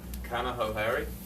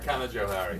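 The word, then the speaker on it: Canajoharie: Is that Kanahohari? Close. The J is hard. Kanajohari. Yes. Yes.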